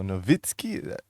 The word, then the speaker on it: Nowitzki: In German, the W is pronounced a V. So Nowitzki.